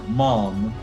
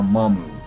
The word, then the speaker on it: Maam: get uh introduced to mamu our mom i know weird pronunciation of a name but i'm going to say mama um because that's how they say it in japanese fairy enough but if